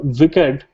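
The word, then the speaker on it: WICED: pressure sensor Etc on the sensor tab the wicked that's how it's pronounced uh is from broadcom and it consists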